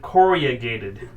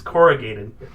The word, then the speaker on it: corrugated: i'm uh doing remodeling he always pronounces it correa gated and so i picked up that habit but it it bothers me because it's corrugated yeah it's corrugated but he says corrugated